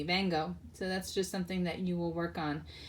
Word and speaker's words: vengo: And our V's, they get pronounced as a soft B, so it's not vengo, it's bango. It sounds like it's bango, but it's not a hard B either. It's a soft B, bango.